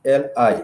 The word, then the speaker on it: li: So the tense marker for the past tense in Swahili, it has to be li, L-I, the syllable li, which is the tense marker that comes before, is a prefix.